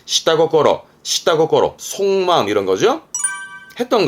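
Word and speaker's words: 下心: 발음은 시다고꼬로. 요또도 땡땡 붙어요. 발음은 시다고꼬로.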